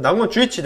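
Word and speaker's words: 南雲忠一: 이름 은 나구모 쥬이치로 발음 됩니다 .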